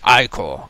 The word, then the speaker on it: ichor: Why, since the troop trapper chalice, I can fill it with magical ichor. That's pronounced ichor.